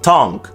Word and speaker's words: tongue: U may appear reasonable, but evidence to the contrary is not difficult to find. Build, catalog, dialogue, colleague, guard, guess, laugh, league, tongue.